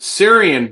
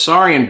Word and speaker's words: Saurian: And I think I pronounced it Syrian brandy. And Crispin was like, it's Saurian brandy.